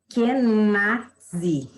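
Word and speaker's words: Kenaz: dela, eu vou trazer para vocês, que é Kenadzi.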